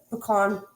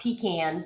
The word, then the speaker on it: pecan: Now, this is a pecan praline, which is how you say it. It's not pecan. Pecan.